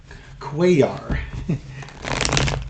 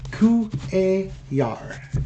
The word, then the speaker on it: Cuellar: Okay, this is going to be a follow-up reading on representative from Texas, Cuellar. Cuellar. The double L making a Y sound, like a Yama.